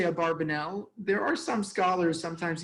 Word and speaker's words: Abarbanel: be pronounced Abravanel, but we have vowelized texts from Abarbanel's son, and he vowelized it and pronounced it Abarbanel.